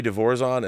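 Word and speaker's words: De Vorzon: final battle is actually barry devorzon said he pronounced his name barry devorzon and let me um let me uh put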